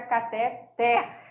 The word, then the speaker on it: cateter: Então, os termos oxítonos são aqueles acentuados aí na última sílaba tônica, tá? Então, fica cateter. Lembrando da professora Márcia, puxando muito bem o R, né?